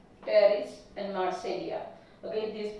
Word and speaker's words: Pteris: Terrace, यहाँ पे भी पी साइलेंट है. एंड मार्सेलिया. Pteridium, Pteris and Marselia.